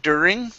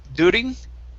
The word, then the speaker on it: during: let's go to the word during right here instead of duding okay give me a